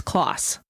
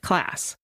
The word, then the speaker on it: Klaas: heard about this case, everybody pronounced the last name as Clauss. However, since then, we have access to YouTube videos, and her father has been on these videos several times, and he pronounces it class.